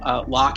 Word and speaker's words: Locke: word all spelled out Locke has a silent e at the end and then you can